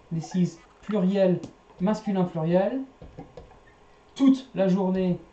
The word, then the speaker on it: toute: Toute la journée. You do pronounce the T here because you got E at the end. So toute.